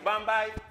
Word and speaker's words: Bombay: Well, we pronounce it Bambi here in Trinidad. But it's Bombay.